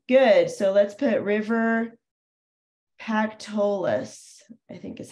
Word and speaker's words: Pactolus: So let's put River Pactolus, I think is how you say it, Pactolus.